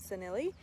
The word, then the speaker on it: senile: they're called matridium farceman or matritium sennelie which is spelled like senile so i don't know